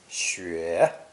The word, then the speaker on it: 雪: It's pronounced third tone, xue.